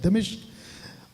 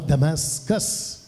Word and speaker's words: दमिश्क: इसका ये जो सफर था दमिश्क, अभी तक हम लोग कुछ और बोलते थे, लेकिन ये राइट प्रोनाउंसिएशन है दमिश्क और दमास्कस, ये इसका इंग्लिश शब्द है दमास्कस।